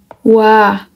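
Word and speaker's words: ㅘ: kita mulai yang pertama o jika kita tambahkan dengan a Bacanya apa bacanya adalah Wa Oke kemudian u ditambah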